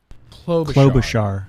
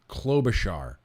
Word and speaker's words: Klobuchar: we're gonna hear from Amy how do you pronounce it again Clos Bashar amy klobuchar amy klobuchar I know very little about Amy Klobuchar very very little the little clip here says